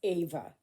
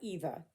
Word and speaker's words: Eva: So, oh, Rana, if you're watching this, um, yes, my name is Ava. Okay, not Eva, Ava. That's how I pronounce it. Okay, and it is spelled EVA.